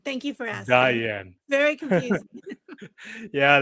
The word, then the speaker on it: Diann: exactly yeah beautiful beautiful so is your name pronounced Diane or Dian Diane thank you for asking Diane very confusing yeah I like to get the